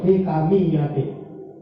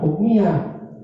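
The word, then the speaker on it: الحِكَمِيَّة: Alladzi khassa man sa'ah min ibadihi bil ma'asir bil ma'asiril hikamiyati. Bacanya bukan hukmiyah, hikamiyati, hikmatun hikam, jamak.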